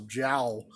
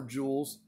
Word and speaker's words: joule: or some people pronounce jowl because it's j o u l some people e some people sometimes say jowl but pronounced jewel some brands will rate